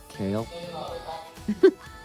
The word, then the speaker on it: Chaol: And there's a guy named Kale. And it's spelled weird.